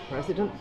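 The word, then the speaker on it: Président: You don't pronounce T because T is not in the word.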